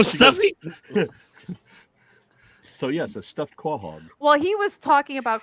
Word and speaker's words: quahog: And so I read it as Quahog. And let me tell you, they lost their goddamn minds. Oh my God, I lost my shit. I was like, you mean Quahog?